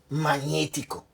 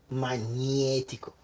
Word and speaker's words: magnetico: So when you have a GN, while in English you will pronounce both gn, like magnetic, in Italian the word becomes magnetico. Magnetico. It's not magnetico, it's magnetico.